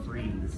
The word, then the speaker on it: freeze: The word is freeze. I know it has an E on the end, but it's pronounced freeze.